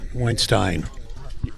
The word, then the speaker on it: Weinstein: Did you pronounce it Weinstein or? Weinstein.